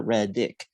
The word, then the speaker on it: Reddick: were until she pointed out it's tyler red dick with the red hair so is there any